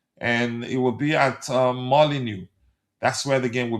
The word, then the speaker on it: Molineux: I never knew that the X um uh you I never knew that the X is always is silent.